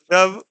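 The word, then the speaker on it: dove: ठीक है, लेकिन इनके प्रोनाउंसिएशन और इनके मीनिंग क्या होंगे, वो डिफर हो जाएंगे। जैसे दिया है डव और डोव, डव इज a white bird, तो इसको क्या पढ़ा गया है, डव।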